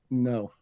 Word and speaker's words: Ngo: up a guy named Andy no is it no pronoun it's it's spelled NGO he's uh I think I